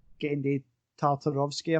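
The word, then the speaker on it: Genndy Tartakovsky: It's made by, the movies are like written by and sort of like directed and like headed by Genndy Tartarovsky, I think is how you pronounce it, who's the guy who created Dexter's Lab and Samurai Jack.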